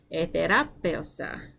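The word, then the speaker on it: ἐθεράπευσα: Etherapeosa. Your turn. Yeah, use that accent to help you pull through a word with a whole lot of syllables, right? You've got your e, therapeosa. And the diphthong.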